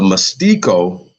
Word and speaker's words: Mestiço: Since the earliest years of the Brazilian colony, the Mestiço, right, Portuguese pronunciation, group has been the most numerous amongst the free people.